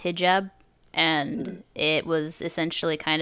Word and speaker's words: hijab: and I mean I wanted to add it's pronounced hijab and it was essentially kind of implied in